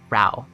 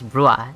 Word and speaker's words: Rauh: ancient ruins of Ru ra Ru I I I keep mispronouncing it as Rua instead of RA I've been doing that